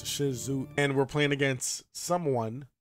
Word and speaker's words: Shisui: zoie and I know I pronounced his name so wrong is Shizu and we're playing against